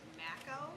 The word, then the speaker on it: Mako: It's actually pronounced Mako, but everybody says Mako.